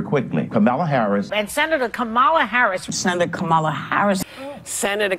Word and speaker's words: Kamala: kamalama dingdong it helps you know that it is pronounced comma as most of you